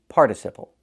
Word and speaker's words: participle: It's pronounced participle. It's pronounced participle in American English. Move the stress. Not participle but participle. When the stress is on the first syllable the t changes to a fast d.